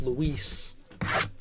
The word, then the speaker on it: Luis: robert it's pronounced roberts luis it's not lewis it's luis and roberts dude i